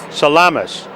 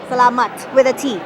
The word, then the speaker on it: salamat: Salamas. Salamat with a T. Salamat. There you go.